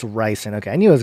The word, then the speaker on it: ricin: Oh, it's ricin.